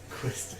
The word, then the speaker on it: Quistis: Quistis.